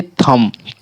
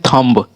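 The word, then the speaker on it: thumb: देखिए थम में बहुत कोई बोल देते हैं थंब, बा का उच्चारण करते हैं लास्ट में थंब, लेकिन थंब ना बोलकर थम बोलना है। ठीक है, एम तक हमें उच्चारण करना है, थम।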